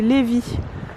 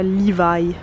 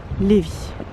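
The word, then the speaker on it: Lévis: dos au château c'est léevi ça s'écrit levvis mais ça se dit levvi et ça se dit pas Livaille Lévi on voulait aller là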